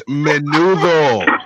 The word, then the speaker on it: Menudo: is free of charge did you pronounce it menu window probably it's menudo the Mexican boy band you know what menudo